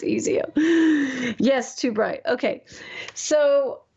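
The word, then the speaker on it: EIZO: Is that how you say it, AD? Ezo? That's my monitor. It's Ezio.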